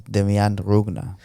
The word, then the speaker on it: Demian Rugna: It's sorry, I said it in the intro, but it's Demian Rugna.